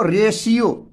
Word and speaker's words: Russia: तो इसको हम लोग तलाबे श का उच्चारण करते हैं, पेंशन, ठीक है। इसी तरह रहेगा आपको रेशियो, रेशियो जैसे RATIO, ठीक है, रेशियो।